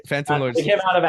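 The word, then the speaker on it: Fantom Lords: be saying it wrong again no you're right Phantom Lords they came out of a hackathon 2o and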